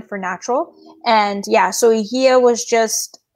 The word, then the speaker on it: Hygieia: How do you pronounce it? So it's Hygieia Naturopathic Clinic. Okay. And what does Hygieia, right? Hygieia.